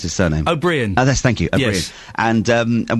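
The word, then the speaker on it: Ó Briain: I never know how to pronounce his surname. O'Brien.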